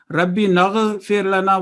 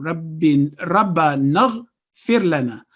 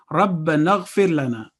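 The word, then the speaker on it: ربنا اغفر لنا: Again, ghain is a thick letter, but it is not a jerking sound. Rabbi naghfir lana would be wrong. Rabba naghfir lana. Rabba naghfir lana.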